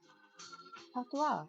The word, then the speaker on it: patois: Patois is a French word meaning something like rough speech.